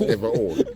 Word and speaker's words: Everole: It's spelled Everole. If you say Ever so. old, it sound like. It's ever old. Yeah. If you want ever, it's up to you.